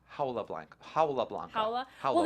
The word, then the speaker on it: Jaula Blanca: It's written that way, but it's pronounced Jaula Blanca.